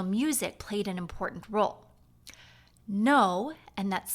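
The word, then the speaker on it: Noh: that means the quality of the musical sound now if your ears are used to listening to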